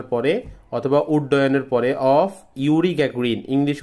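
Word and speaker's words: Yuri Gagarin: বলছে after the flight after পরে the flight মানে বিমান চালানোর পরে অথবা উড্ডয়নের পরে অফ ইউরি গ্যাগ্রিন ইংলিশ উচ্চারণটা হচ্ছে ইউরি গ্যাগ্রিন বাংলায় বলবো হচ্ছে আমরা জুরি গ্যাগ্রিন।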